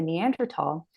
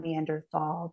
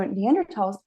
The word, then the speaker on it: Neanderthal: another footnote neander not Neanderthal because in Germany which is where the first neander tal was ever discovered Germans don't pronounce the th sound they pronounce it t so neander Valley neander